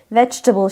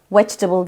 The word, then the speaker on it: vegetable: için genelde Düzeltmeler işte D eceli değildir 3 hecelidir vegetable şeklindedir Fakat daha çok hatayı baştaki seste yapıyorsunuz vegetable diyeni çok duyuyorum vegetable vegetable Bu kelimenin telaffuzunu sorsam